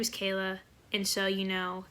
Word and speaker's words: Knola: oh my name is Kayla and so you know kind of like NOLA like Louisiana but the K is silent and then like okay